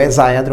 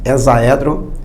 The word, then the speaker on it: hexaedro: nós vamos estudar o hexaedro regular. A pronúncia é essa, tá? Hexaedro regular e não hexaedro.